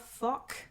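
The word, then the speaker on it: Fokke: Libranos, with its skeleton crew, captained by Fock. F-O-K-K-E. Fock. Everyone What the fuck? everyone thinks I pronounce it that way anyway. No, No, it's Fock.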